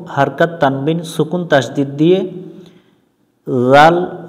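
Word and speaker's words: ذال: করে পড়তে হয় উত্তর জাল অক্ষর জিহ্বার আগা থেকে নরম করে পড়তে এটা জাল শক্ত করা যাবে না বা জাল শক্ত করা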